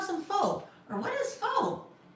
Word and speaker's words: faux: fo or what is fox?" kind of similar like faux like fauxpaw. F A U X FOX. You wouldn't look at that and think it was pronounced that way either, right?